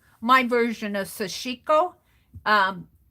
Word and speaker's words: sashiko: here is kind of like my version of sashiko um sashiko it's spelled s-a-s-h-i-k-o it's a japanese kind of a